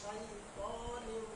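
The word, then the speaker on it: شيطان: কি ভুল হইছে না ঠোট গোল না কইরা এখানে ঠোটের কোন কাজ নাই ত হরফটার সাথে হুজুর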